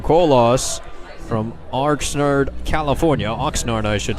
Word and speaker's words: Oxnard: bringing in Tyson Cole loss from Oxnard California Oxnard I should say that's the training training camp